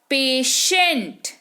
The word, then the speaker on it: patient: ये हो गया, तो इसके वजह से टी का उच्चारण क्या हो जाएगा? श हो जाएगा। यहाँ पर क्या हो जाएगा? पेशेंट।